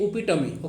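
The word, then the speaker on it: epitome: तो इसको इपिटमी बोल सकते हैं, इस तरह का अगर नॉर्मल बोलो तो इपिटमी बोल सकते हैं, इपिटोम नहीं बोला जाता है। तो इसको क्या बोलेंगे? उपिटमी। ओके ना, उपिटमी। तो उपिटमी होता है, इपिटमी जैसा आप लोग प्रोनाउंस कर सकते हैं।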